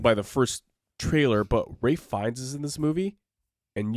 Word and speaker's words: Fiennes: This was spoiled by the first trailer, but Ralph Fiennes is in this movie, and you guys know how much I love Ralph Fiennes.